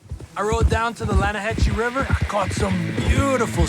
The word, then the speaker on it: Lanahatchee: Yeah, but it's pronounced Lanahatchee.